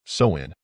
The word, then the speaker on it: Samhain: The origins of Halloween date back over 2,000 years to the ancient Celtic festival of Samhain, pronounced Samhain.